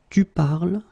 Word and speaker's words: parles: you listen to me, I will pronounce it je parle, tu parles, il parle, elle parle, il parle, elle parle. So it does mean that even if you write them differently, es, and then ent, you will pronounce them the same way.